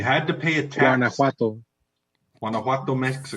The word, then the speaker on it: Guanajuato: Guanajuato, Mexico. Say it right. It's chowder. Guanajuato.